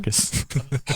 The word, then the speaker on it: Chacos: his You just daughter's pronounced it costume on. Charkis.